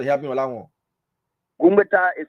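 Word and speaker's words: Gungbeta: Gumbeta is spelled G-U-N-G-B-E-T-A.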